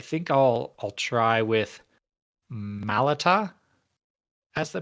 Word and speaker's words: Malata: i'll i'll try with malata as the pronunciation okay the the way that i heard it in the audiobook i believe chevrolet corrects me is melata yes malata i call